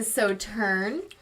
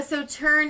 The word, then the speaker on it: Sauternes: And with this one, you pronounce the S at the end, correct? Sauternes? No, you do not. I don't think Oh. so. It's French. Just throw away the last half of the word. All right.